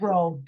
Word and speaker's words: Rheault: RHEAULT. Yeah. It's row. It's row. Row, because there's a bunch of rows in Fargo, North Dakota.